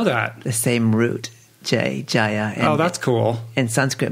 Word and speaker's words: Jaya: so she pronounces it Jaya the Sanskrit and North Indian pronunciation is Jaya right yeah we got